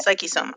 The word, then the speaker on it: Psyche-Soma: Now, before I get into the next question, help me pronounce this. Is it Psyche Mm-hmm. Soma? Yep, you got it. Psyche Soma.